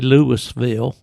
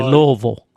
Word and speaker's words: Louisville: You know, you go to T Kentucky, you don't say Lewisville, you say Louisville.